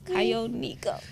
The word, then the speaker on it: Kagonineko: I was like, it's Kagonineko.